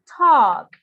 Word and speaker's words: talk: pronounce cold and tall no you don't pronounce the and you say talk okay code talk remember